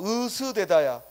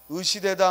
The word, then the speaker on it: 으스대다: 또 으스대다야. 으시대다 하면 안 돼. 그래서 으스대다 이게 표준어고 으시대다는 비표준어야.